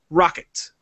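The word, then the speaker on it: Roccat: And he said they're based in Germany, and they pronounce it Rocket. Even though there's a cat in the logo, that they say Rocket.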